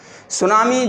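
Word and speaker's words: tsunami: हैं हुआ है कि सुनामी जापानी शब्द दें है और इसको कि इस प्रकार से लिखा जाता है इस मिट्टी साइलेंट रहता है मैं इसको यदि परिभाषित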